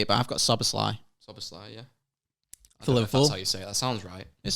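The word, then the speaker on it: Szoboszlai: Okay, so I can never say it, but I've got Soboslai.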